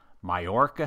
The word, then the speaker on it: Mallorca: But this time, the good people at ExoCAD are holding their amazing conference that they call ExoCAD Insights in Mallorca, Spain. Oh, you even pronounced that correctly.